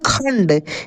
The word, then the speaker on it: खंड: जब इस वाले अक्षर पे बिंदी लगा है, जैसे यहाँ पे ख के ऊपर है ना, तो इसको हम लोग पढ़ेंगे खंड।